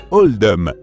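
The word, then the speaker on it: Oldham: à celui de l'école ce choix a été fait pour refléter la prononciation d'Old dam dans l'accent local qui se rapproche davantage de oldum par conséquent c'est pour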